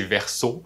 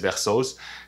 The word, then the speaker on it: Versos: La bonne prononciation c'est Verso, c'est genre Verso au pluriel, mais il y a plein de monde qui disent Versos. Puis bon, ça me dérange pas tant, Versos ça veut dire verse en espagnol aussi, puis I guess je fais accepter qu'on peut le prononcer dans les deux sens, ça fait que le